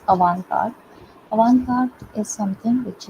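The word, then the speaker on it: avant-garde: Uh the next term we've often called is another term is a French term. We pronounce it as a card.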